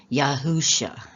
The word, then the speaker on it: Yahusha: And And I should pronounce it a little better because I found out that Yeshua is not really correct. It should be Yahusha is how it should be pronounced.